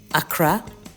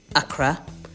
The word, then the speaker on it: Akra: and Tobago and Haiti, where it is called Akra or Akra. Different spelling, but same pronunciation.